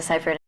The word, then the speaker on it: Seyfried: Amanda Seyfried. It is Amanda Seyfried.